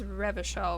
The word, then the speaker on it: Revachol: He pronounces Revachol with a hard K, unlike other people.